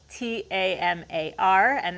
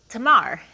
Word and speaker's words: Tamar: My name is spelled Tamar, and that's pronounced Tamar. It's not Tamara or Tamar, it's Tamar.